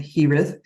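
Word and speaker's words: Gez: Consciousness a being called hith it's spelled g EZ so the G is like an h and the Z is like a th castillan th I a conscious Channel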